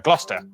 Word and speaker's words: Gloucester: Leicester, Worcester, Gloucester.